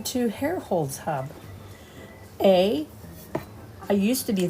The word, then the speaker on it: Herrholz: So we are Herrholz Hub Rolling with Cam and Cole. And as my hubby here explains it best, hair Hair like the hair on your head, and holes like holes in the ground.